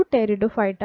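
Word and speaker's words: Pteridophyta: बाद देखते हैं टेरिडोफाइटा टेरिडोफाइटा में पहले पी लिखा हुआ है ठीक है पीटी इस तरह से स्पेयरिंग है इसमें साइलेंट है इसको टेरिडोफाइटा पढ़ा जाता बाद में आरएसी आदि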